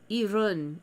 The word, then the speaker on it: Iran: Iran. So you say it like run. Iran. Iran. Not Iran. Iran.